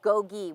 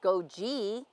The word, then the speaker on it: GOGI: GOGI is pronounced GOGI with 2 hard G sounds. It's not pronounced GOGI. GOGI rhymes with yogi, like Yogi Bear or a hoagie sandwich.